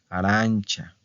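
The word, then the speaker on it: arancia: banana Bueno arancha arancha okay acuérdense de la pronunciación arancha verdad entonces otra vez verdad termina con qué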